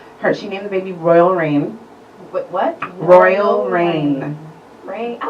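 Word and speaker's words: Reign: named the baby Royal Rain. What? Royal Rain. Rain? I like Rain. Rain Royal is cute. Rain. It's spelled R-E-I-G-N. Yeah. Rain, like royalty.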